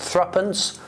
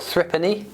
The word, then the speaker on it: threepence: The 3 pence was normally pronounced threepence or threepenny, and also joey.